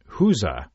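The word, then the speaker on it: gueuze: Now, number six is a blended lambic, and you pronounce it Hooza. Hooza, yeah. Because it looks nothing like Hooza. Yeah, no, it's spelled G-U-E-U-Z-E, but it's, or one of the pronunciations of it is Hooza.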